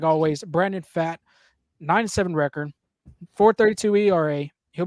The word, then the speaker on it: Pfaadt: Pfaadt, Pfaadt. You got to pronounce the T with a D a little bit. Pfaadt.